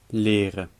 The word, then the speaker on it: leren: Leren. Rekenen. In leren, the R is at the beginning of a syllable, so it's a French R.